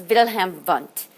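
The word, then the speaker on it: Wilhelm Wundt: name for structuralism is pronounced wilhelm with a v it's german so it's wilhelm bunt is how you pronounce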